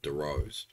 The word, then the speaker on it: Dorrough: to talk about it I pronounce it Doros I know other people probably pronounce it Derose I think these are